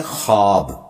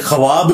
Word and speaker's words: ख्वाब: वाव उड़ जाती है इसको पढ़ने का तरीका है खवाब यह खवाब नहीं पढ़ा जाता वैसे उर्दू में चल भी जाता है लेकिन यह लफ्ज है ख्वाब तो व उसमें फिर साइलेंट हो जाती है तो ये जो